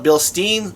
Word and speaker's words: Bilstein: community tab on my channel asking how you pronounce Bill Stein some people call it bill steam I call it bill Stein after you watch this video head on I'm